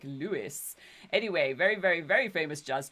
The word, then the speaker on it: Louis: most people pronounce it Louis but the inner just circles say it like Lewis anyway very very famous